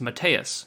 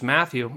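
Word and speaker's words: Mateusz: is pronounced Matthias and it's actually very easy to pronounce if you look at it you just you just don't pronounce the Z and it's matteus and of course uh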